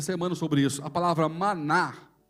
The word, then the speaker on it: maná: Maná. Que é isto? Que é isto que ele faz? Como que ele faz essas coisas? A pronúncia é maná.